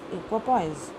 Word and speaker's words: equipoise: Next word is इक्विपॉइज, which is a noun and it is pronounced as equipoise.